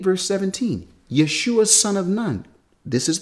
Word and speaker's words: Yeshua: The shortened form of his name is Yeshua, not Yahshua. Now, this Yahshua is an attempt to